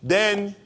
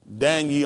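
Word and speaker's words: Daniyyel: right d a n why then this this y would make a e sound Danel all you see how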